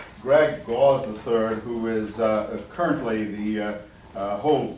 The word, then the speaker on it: Gause: For years I've been pronouncing it Gause, and he hasn't corrected me until last night at dinner. It's Gause. Why it's Gause, I have no idea, but that's what he claims.